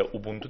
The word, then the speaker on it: اوبونتو: اوبونتو اسم گذاریاش اینجوریه، اوبونتو تلفظ درست تریه.